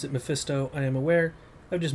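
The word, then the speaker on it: Mephisto: uh antagonists of the Diablo Universe this is misto but in Disguise other people pronounce it mefisto I am aware I've just mentally pronounced it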